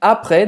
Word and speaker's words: après: Je crois en la vie après, depois, après la mort. Não pronuncia o T. Então, après, depois, tá?